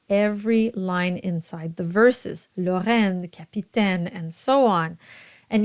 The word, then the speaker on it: Lorraine: And then you have the sound at the end of every single line of the song, and it's unstressed at the very end. So you'll have Lorraine. So you voice it, but very lightly.